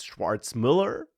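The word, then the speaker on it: Schwarzmüller: this individual, Maximillian uh Schwarz Mueller. I won't even pronounce his name. I'm sorry if I mispronounce it. Yeah, it's Schwartz Miller.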